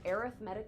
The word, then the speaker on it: arithmetic: This is known as an arithmetic sequence. Arithmetic, spelt the exact same way as arithmetic. Why are they pronounced differently? I don't have an answer.